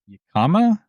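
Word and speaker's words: jícama: A yellowtail ceviche, yellowtail tossed in mango lime salsa, red pepper, jalapeno, jicama, I guess is how you say that. Jicama, I believe. Yes, jicama.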